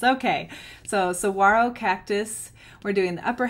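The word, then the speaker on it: Saguaro: cactus is called pronounced Saro Cactus the g is silent so I was butchering it the whole time it's okay so Saro Cactus we're doing the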